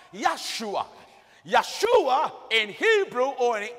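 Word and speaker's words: ישוע: So the name Joshua in Hebrew is correctly pronounced Yeshua.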